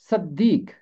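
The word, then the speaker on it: صدیق: अरबी जुबान में इसका मुतरादिफ लफ्ज़ है सिद्दीक, वहाँ पे स्वाद के नीचे जेर है।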